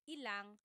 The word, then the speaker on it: ilang: Just a pronunciation tip, when there's ilan ang, it's usually put together and it's ilang.